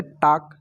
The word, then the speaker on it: talk: उस तरह से टाक, TALK, तो यहाँ पर टाल्क नहीं पढ़ेंगे, टॉक पढ़ेंगे।